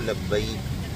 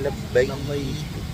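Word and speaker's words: لبيك: लब्बैक के बारे में 3 बातें लफ्ज़ी प्रोनाउंसिएशन के बारे में अर्ज़ करना है मुफ्ती साहब कि उमूमन लोग बोलते हैं लब्बैक, ये गलत है, ये सही है लब्बैक, ये सही है लब्बैक।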